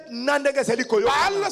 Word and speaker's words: Baal: Baal, c'est le dieu de Canaan. Baal.